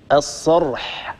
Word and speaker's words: الصرح: الصرح هكذا، اسمعيني صوت الحاء.